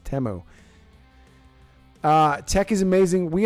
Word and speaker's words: Temu: at once that was the first time I've actually heard it pronounced temo uh Tech is amazing